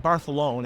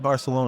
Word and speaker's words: Barcelona: we did down in barthelone and every time I call it barthelone I get corrected by the good people in Spain because you pronounce it like that cuz the king did and I'm like you